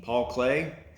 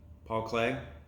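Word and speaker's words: Paul Klee: by artist paul clee paul clay i remember learning about paul clee paul clay i think it's spelled klee but pronounced clay i remember my art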